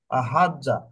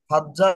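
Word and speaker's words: حَجَّ: করছি সেটা হলো যে হাজাজা, এটার উচ্চারণটা একটু ডিফিকাল্ট বাট কষ্টসাধ্য। এই জন্য আমরা সেকেন্ড রেডিকেলে আমরা জবরের পরিবর্তে সুকুন নিলাম, তাহলে হচ্ছে হাজ্জা, যেটার উচ্চারণটা আমাদের জন্য একটু ইজি। হুম। আর সুকুনটা আলাদাভাবে না রেখে এটা তাসদিদের মাধ্যমেও আমরা একটা হরফ, দুইটা হরফকে একত্রিত করতে পারি। সে তার ফলে যেটা আসতেছে সেটা হলো হাজ্জা।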